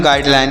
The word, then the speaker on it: guideline: यहाँ पर जी यू से यू का प्रोनाउंसिएशन नहीं किया जाएगा, तो इसे हम गाइडलाइन पढ़ेंगे।